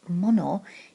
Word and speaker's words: 物: of the word is this character here it's pronounced mono it means thing a tangible thing something that